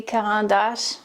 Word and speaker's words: Caran d'Ache: I know in French it would be Caran d'Ache, but I think uh many of you wouldn't understand me if I said that.